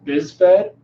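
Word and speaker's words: BISFed: an organization it's called biz fed the is Fe D this vet the Paralympic Committee sort of pronounced this vet has the regulatory organization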